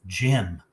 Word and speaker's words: gym: If we look at our rule, when G comes before Y, it is soft and says J like a J.